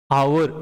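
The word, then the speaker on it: hour: Take some example, honest हो गया ये, ऑनेस्ट, आवर, एन आवर, हावर नहीं बोलते ना, हावर, नॉट हावर, एन आवर, एम ए, ही इज एन एम ए, not Yama A, okay.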